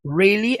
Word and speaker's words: really: Lembrando que a pronúncia do really é sempre com o R lá pra dentro.